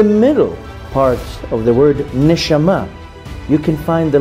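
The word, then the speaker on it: נשמה: essence of the soul the word soul in Hebrew is pronounced neshama in the middle parts of the word neshama you can find the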